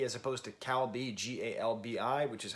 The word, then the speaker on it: galbi: weapon, and like B as opposed to calbi, Galbi, which is how you say the short ribs.